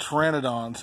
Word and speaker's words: Pteranodons: so these are called Pteranodons and if you don't know how to wear an Adonis spelled it spelled with a P it's ridiculous it's got a silent P just like boom bogna